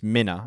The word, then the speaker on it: Minna: I always say her name wrong. Minna. I keep calling her Minnow. We've got a user called Minnow from Team. It's Minna.